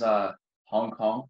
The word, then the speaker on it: Hong Kong: Okay, well, my name is Hong Kong, just like the city.